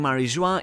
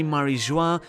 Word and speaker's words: Mary Geoise: And, hear me out, could this be the reason why Mary Geoise is pronounced the same as “joie”, which translates to “joy”, while "Mary" comes from Latin "sea".